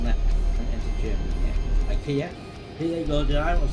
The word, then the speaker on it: IKEA: IKEA. Here you go, I was telling you about, it's got ProMods and there's IKEA there. Or IKEA, as it's pronounced.